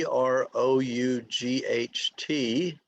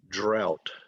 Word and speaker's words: drought: but it's spelled g d-r-o-u-g-h t but it's pronounced drought so you start with dr drought drought it's a good thing